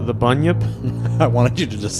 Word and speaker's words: bunyip: believe it's pronounced the bunyip I wanted you to just say a really easy word I believe it's pronounced ghosts it sounds like a bunion yeah it just grows